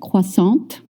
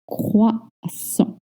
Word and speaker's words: croissant: Let's remember, we don't pronounce consonant at the end of French words. So maybe you said croissant, and no, it's croissant. Here it's a little hard because you have the on sound, not on.